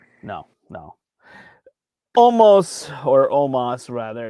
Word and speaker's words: Omos: no no almost or omas rather it's spelled almost but they say omas omas defeats lashley mvp